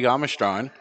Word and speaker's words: Jamastran: But today's second cigar is the Eiroa Jamastran.